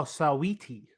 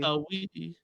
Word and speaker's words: Saweetie: maybe it's just sweetie Saweetie, spelled with an Saweetie, A. Saweetie, Sweetie, sweetie. Saweetie.